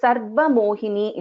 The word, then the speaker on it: Sarva Mohini: So here also we are pronouncing the Repa first and then the Va. So here the Dvitvam is happening on the letter Va and not on Ra.